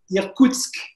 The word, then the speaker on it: Irkoutsk: Alors, pour retracer brièvement ton parcours, alors que tu es directeur de l'Alliance française à Irkutsk, je ne sais pas si je prononce bien, Irkoutsk.